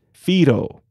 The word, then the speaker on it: Whiro: hawaiian word but first fido okay a few things before we start first fido is spelled w-h-i-r-o but is pronounced with an f we saw this previously with the tanefa back in episode 61.